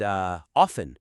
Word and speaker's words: often: just correct or incorrect, and often with the silent T. Right. People sometimes hypercorrect that one. They do. So you could frame it as embracing the silent T and often isn't just about following convention. It's about letting go of hypercorrection.